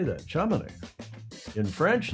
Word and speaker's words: Chamonix: Chamonix.